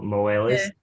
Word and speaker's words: Moelis: I don't know how to pronounce it, but Moelis or Yeah. Moelis.